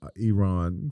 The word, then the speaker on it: Iran: as I am God I ran you know I ran I ran I don't know it's I ran it's Iran Iran I said it wrong it's Iran Iran ousted from the